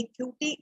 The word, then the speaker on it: QT: कैसे स्पेलिंग कैसी है क्यूटी का? स्पेलिंग है QT, 2 लेटर्स है QT, बट सुनने में कैसा लगता है? क्यूटी, है ना क्यूट सा.